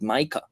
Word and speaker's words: MiCA: Some people call it MiCA. I think now we in the MiCA team are winning. We prefer this pronunciation, but there's actually no official pronunciation.